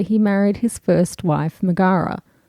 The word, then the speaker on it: Megara: married his first wife megara or megura i've always pronounced it the first way and that's what i'm sticking with today they had a few